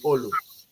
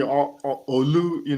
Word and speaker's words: Olu: Most people call me Olu, but people who know me longer than that call me Olu. Alo. Yeah, Yeah. but the right pronunciation is Olu.